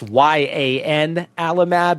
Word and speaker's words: ianalumab: Obviously, not the easiest to pronounce, but just pretend like it's YAN alumab instead of IAN alumab, ianalumab.